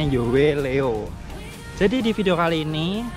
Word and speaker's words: Yoeleo: Jadi bacanya Yoleo.